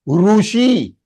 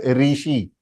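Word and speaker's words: ऋषि: short Ru deu means long one is rushi rushi it is not Rishi it is rushi Rishi Kapur because that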